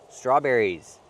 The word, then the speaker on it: strawberries: Add the s and make the z sound like in zebra. Z. Strawberries.